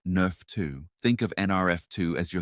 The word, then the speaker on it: NRF2: Sulforaphane is one of the most powerful natural inducers of a cellular defense system called the NRF2 pathway, pronounced Nerf 2.